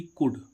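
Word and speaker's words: could: Silent. C ओ यू एल डी कुड।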